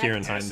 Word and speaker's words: Kieran Hines: I don't even know if I'm saying his name Kieran right. Hines. That is correct. Kieran Hines.